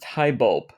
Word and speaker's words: Highbulp: Chapter 19 is the Broken City, and I believe it's pronounced Highbulp.